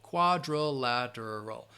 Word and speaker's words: quadrilateral: par parallelogram and quadrilateral quadrilateral um wait I'm trying there we go quadrilateral five syllables again quadrilateral parallelogram so yes and